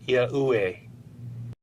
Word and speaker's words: Yahuwah: These IEUE letters in this famous illustration would be pronounced as Yahuwah.